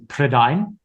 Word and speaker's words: Prydain: I was definitely a reader before then, but I remember reading Lloyd Alexander's Chronicles of Prydain. And that's how it's pronounced.